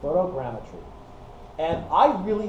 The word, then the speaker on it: photogrammetry: way you pronounce this it's photo gretry I think I got that right photogrammetry and I really like